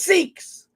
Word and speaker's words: Sikhs: Now, let's face it, there are Sikhs. You guys know what Sikhs are, right? It's spelled sick people, but it's Sikhs.